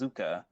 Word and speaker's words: Zukka: The next one is, I believe this is the way that you like me to pronounce it, is Zukka, which is the combination of Zuko and Sokka.